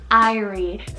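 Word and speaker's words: Irie: Jamaican name iie spell i r i e iie such like a fun um eye name shorter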